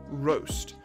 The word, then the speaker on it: roast: make it even worse ours in their case are pronounced very specifically so when i said roast roast has your tongue pretty flat on the bottom of your of your mouth and just the corners are tilted up but if i say it in british action it's going to be roast so almost your entire tongue is curled up on either side plus the tip of